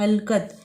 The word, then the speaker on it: حلقت: اب اس میں دیکھیں سب سے پہلا ہے حلقت، یہ زبر لام حل، کاف زبر تے قط، حلقت.